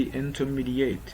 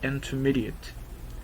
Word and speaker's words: intermediate: next way the word intermediate no one say in to mediate this is a common mistake common mystery a common nest pronunciation of this word intermediate no intermediate no no no no intermediate intermediate if you are intermediate level so you